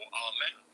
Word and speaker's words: Amun: So Imu, or Amen, if you want to pronounce it as Amen. That's how it used to be pronounced before someone changed it into Amun instead.